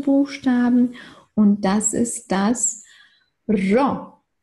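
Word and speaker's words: ρο: Gut, dann geht es weiter mit unserem nächsten Buchstaben und das ist das Ro. Ro. Akrivos, genau, das ist ein gerolltes R.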